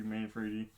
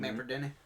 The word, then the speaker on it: Manfredini: The music is again with Harry Manfredi. Manfredini. I can never say his name. Manfredini.